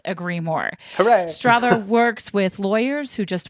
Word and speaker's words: Strother: Strother like father. For sure. Yep. Strother like father, not Strother like brother.